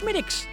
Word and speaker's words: Smithwick's: Yes, it looks like Smithwick's, but it's actually pronounced Schmidtick's.